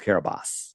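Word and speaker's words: Kiribati: It's spelled K Carobati, but it's pronounced Kabos.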